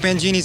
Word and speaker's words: Mangini: You've got your new drummer, Mike Mangini. Like That's the correct pronunciation.